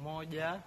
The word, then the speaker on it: moja: Moja.